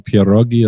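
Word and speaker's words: pieróg: The way you pronounce it is one pierog. One you know, if you're pierog. going to, let me have one pierog then.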